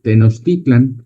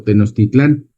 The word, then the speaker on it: Tenochtitlan: Entonces, por eso escuchan muchas veces que le dicen Tenochtitlan o Tenochtitlán. La diferencia es que uno lo están pronunciando en náhuatl y el otro lo están pronunciando en español, ¿verdad?